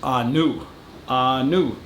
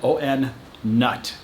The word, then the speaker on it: On Nut: there's a town and it's pronounced a new new and when you look at the way that they wrote it out in english it says on o-n-nut n-u-t on nut now if i go